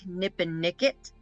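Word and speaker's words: Nippenicket: it's a l lake nipen nickit is how you say it and the deepest it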